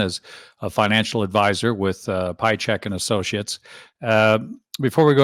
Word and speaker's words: Piatchek: And most people, I think, pronounce it Piatchik. I've seen Piatchek, yeah, Piatchik. But yeah, just Piatchek. There's a T in there that you might not hear.